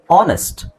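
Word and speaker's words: honest: ಅಲ್ಲ ಇದು ಅವರ್ ಆಮೇಲೆ ಆನೆಸ್ಟ್ ಆನೆಸ್ಟ್ ಪ್ರಾಮಾಣಿಕ ಅಂತ ಹೇಳಲಿಕ್ಕೆ ಹೆಚ್ಚಿನ ಅವಶ ಅವಶ್ಯಕತೆ ಇಲ್ಲ ಬರಿ ಓ ಇಂದನೇ ಸ್ಟಾರ್ಟ್ ಮಾಡಬಹುದು ನೀವು ಆನೆಸ್ಟ್ ಐ ಆಮ್ ಆನ್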